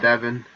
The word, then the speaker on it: Devin: know jean jean and is it devin or devaughn pronunciation you know i used affiliates and i devin devin okay um so gene and